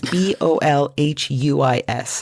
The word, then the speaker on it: Bolhuis: I don't know how you say his last name. It's Bolhuis.